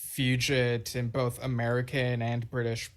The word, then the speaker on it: fugit: And I've heard it pronounced both ways, even by a Yes member saying Fugit. Okay, so I just Googled the pronunciation right now. And apparently, apparently it's Fugit in both American and British pronunciation, according to Google.